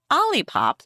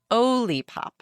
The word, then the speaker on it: Olipop: It's not Olipop like lollipop, it's Olipop.